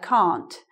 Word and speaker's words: can't: confused because in um British English we don't always say the T we don't always pronounce the T in this word can't so it might sound like this I can't understand you but it might also